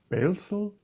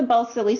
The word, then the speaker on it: Balsillie: From the, and now is it Balesel School? I know I cannot make it. How is it correctly pronounced? It's the Balsillie School.